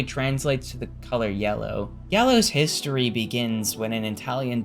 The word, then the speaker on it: Giallo: It's Giallo.